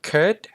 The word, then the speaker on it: curd: ถัด มา curd curd ผม แนะ นำ ให้ เริ่ม จาก เสียง เวลา เรา พูด cur curt แล้ว ก็ ทำ ให้ เสียง มัน สั้น ลง cur curd บาง สำเนียง อาจ จะ อ่าน ว่า could นะ ครับ ผม แต่ ว่า ใน อเมริกัน kur นะ ครับ ถัด มา Word